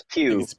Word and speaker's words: Pugh: and I hope we get to see Florence Pugh again, or Puff or Pug or what, I don't know how to say it. It's Pugh. I think it's Pew.